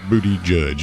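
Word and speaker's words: Buttigieg: sorry yeah booty judge booty judge yeah booty judge that's the easiest way to remember it because well just seems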